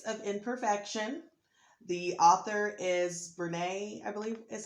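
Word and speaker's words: Brené: The author is Brene, I believe is how you pronounce it, Brown.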